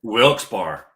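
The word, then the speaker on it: Wilkes-Barre: I was like no wils bar all right wils bar see I'll say it now I'll say it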